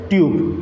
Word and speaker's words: tube: Now check the sound of u here. Tub. A very short sound here. Okay now? But here, if you find here, if you check here, tube, tube, tube. It means u generates a long sound here.